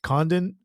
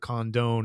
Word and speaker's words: Condon: Georgia outfielder here um I've heard his name pronounced two ways Condon and condone I'm saying Condon cond Condon I've heard condone